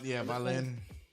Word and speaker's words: Wallin: It starts with a W, but they pronounce it with a V. Yeah, Wallin.